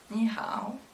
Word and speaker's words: 你好: Du coup pour dire bonjour en mandarin, on dit 你好， ni hao.